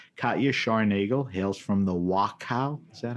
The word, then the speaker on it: Wachau: Katja Scharnagl hails from the Wachau, is that how I pronounce it?